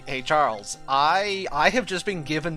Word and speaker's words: xujhan: Charles is the canonical pronunciation of xujhan.